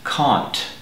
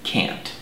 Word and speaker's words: can't: Now I'd like to mention that speakers of British English normally pronounce this word as can't, whereas in America we pronounce it can't.